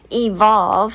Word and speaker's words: EVLV: It's a Waymark gear backpack, and this is the Evolve, and it's spelled EVLV Ultra, and it's a 40-liter backpack.